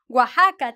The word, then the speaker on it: Oaxaca: Yeah, it is not an X and it is not an S. It is a kind of a J in Spanish, like, or if you want to put it in English, it's like the H, right?